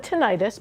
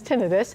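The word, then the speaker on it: tinnitus: play a role in reducing your risk for tinitis. Some people call it tenitis, but I'm told the correct pronunciation is tinidis.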